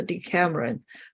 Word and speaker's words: Decameron: story is called the D Cameron that is the English way to pronounce it and without the e